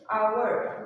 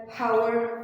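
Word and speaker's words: hour: so you can see H is silent in the beginning we will take another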